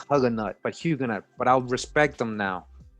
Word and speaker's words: Huguenot: i'm like who's these hugging nuts hugging nuts but a huguenot right that's how you say it hugo knight what does a huge